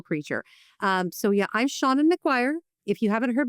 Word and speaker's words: Seanan: If you haven't heard my name pronounced before, just pretend you have a friend named Shawn, and you want him inside your house, and you'd say, "Let Shawn in."